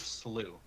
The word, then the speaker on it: Slough: How do you say it? Slough? Sloth? That is Slew.